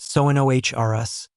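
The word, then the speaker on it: Sonorus: It's pronounced sonohrus, emphasis of the nohr," Flitwick explained.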